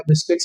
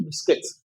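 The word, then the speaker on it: biscuits: नमकीन खा लो, थोड़ा बिस्किट्स खा लो। So that is okay? वो बिस्कुट नहीं है बिस्किट्स।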